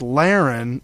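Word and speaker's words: Lahren: spell her last name it's it's Len but you spell it l a h re n she is a uh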